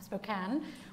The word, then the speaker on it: Spokane: take place in Spokane I'm pronouncing it right this time Spokane Washington from June 19th